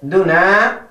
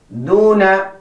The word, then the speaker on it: دون: Do not say دون. دون. It is wrong, but the correct way is دون.